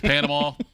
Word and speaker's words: Panama: He thought it was Panama. I had to tell him it was Panama. And then he said, like with an L, Panama. I said, no, Panama. He said, looks like Panama.